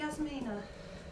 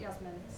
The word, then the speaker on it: Yasmin: Okay, Yasmina. Am I saying it right or is it Yasmin? Yasmin. Sorry, I'm giving you extra letter on the end of your name.